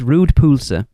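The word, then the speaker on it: rød pølse: I've already pulled Laura up on this because she couldn't do it, and it's pronounced Rude Pulse.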